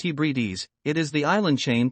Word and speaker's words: Hebrides: in the Scottish Highlands and the outer Hebrides pronounced Hebrides it is the island chain to the immediate